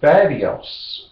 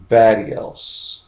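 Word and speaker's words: badious: they work for you the third one is badios b-a-d-i-o-u-s badios and what does vadios mean yes i'm going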